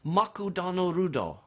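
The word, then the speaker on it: マクドナルド: and an example of that is McDonald's is pronounced makutano Rudo and so write to them that's an English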